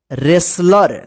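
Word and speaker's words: wrestler: यहां पे यहां पे डब्लू जो है ना साइलेंट र व रैप मत पढ़िए रैप रैप का मतलब होता है ढक लेना रेसलर देखिए यहां पे डब्लू ई डब्ल्यू आर ई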